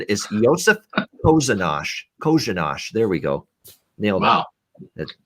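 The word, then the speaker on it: Kořenář: It's actually Kozhanash. The first R in his name is an SH sound as well. So the official pronunciation is Josef Kozhanash. Kozhanash.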